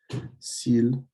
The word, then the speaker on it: s'il: S'il, you want to pronounce it exactly like you would pronounce the word for the animal. It's s'il.